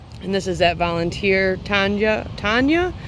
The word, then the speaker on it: Tanja: And this is that volunteer Tanja. It's Tanja, T-A-N-J-A is how it's spelled, from Jung Seeds.